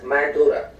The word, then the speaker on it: Mandara: nigerian border are the mandara mountains it is pronounced in english as mandurah this word itself is